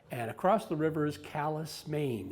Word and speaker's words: Calais: across the river is callous maine it's spelled like calais but they pronounce it callus norm discovered that in 1812 the citizens of saint stephen and the citizens of calais decided not to go